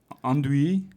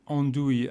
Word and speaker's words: andouille: Okay, so let's have one more pronunciation lesson. Merde. Merde. Andouille.